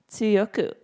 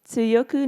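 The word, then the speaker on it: 強く: to be strong that sue in tsuyoku is pronounced like the first phoneme of the word cats repeat after me cats cats it tsuyoku good but not the naughty tie the are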